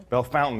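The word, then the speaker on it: Bellefontaine: to B Fontaine Cemetery Bel Fountain as the locals say right is is it's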